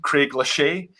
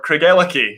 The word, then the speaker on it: Craigellachie: So in explaining how to say it, I always say break it down. You've got a boy's name, Craig. So we, of course, have Daniel Craig there. A girl's name, Ella. You have Ella Fitzgerald.